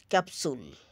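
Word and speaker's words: capsule: যেমন ফেপসি, ফেপসি, পি এস একসাথে আছে কিন্তু তার আগে ভাওয়েল আছে, এই কারণে এটা পি এর উচ্চারণ মাঝখানের পিটা উচ্চারিত হবে, ফেপসি। ক্যাপসুল, ক্যাপসুল, এখানে পি আছে মাঝখানে, পি এর উচ্চারণ হবে।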